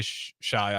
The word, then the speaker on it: Shai: with the those guys is it Shay or Shai I always say shay gild just Alexander I always Shay I think it's Shay yeah okay some people say Shai I think it's pronounced Shay gild Alexander okay uh let's see